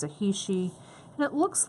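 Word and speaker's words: heishi: And it's hishi. It's a African bead, and it's spelled H-E-I-S-H. Hishi bead.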